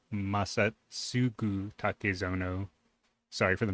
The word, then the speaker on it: Masatsugu Takezono: It's Masatsugu Takezono. Sorry for the mispronunciation.